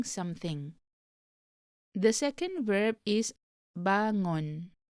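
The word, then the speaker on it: bangun: the second verb is bangon be careful not to pronounce it as ban gun it is it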